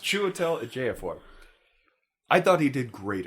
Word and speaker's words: Chiwetel Ejiofor: It was just like any other Saturday for Chiwetel Ejiofor.